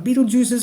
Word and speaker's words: Betelgeuse: the asteroid will block out the brightest Dr Beetle juices light I said it right that time but